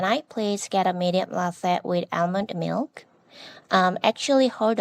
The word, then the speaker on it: latte: Latte. It sounds like you're saying lathe, which is different. The correct pronunciation is latte, not lathe.